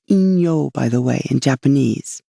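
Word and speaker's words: 陰陽: more Yang than Yen Yen and yangong is pronounced Ino by the way in Japanese if you ever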